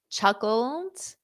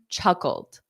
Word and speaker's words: chuckled: The woman chuckled. Chuckled. Notice that pronunciation. Chuckled. Chuckled. Cold. Chuckled. So this ED is just pronounced as a soft D.